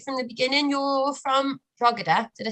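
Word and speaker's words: Drogheda: the beginning you're from drugada did i say that right it's like a slightly silent g slightly silent g i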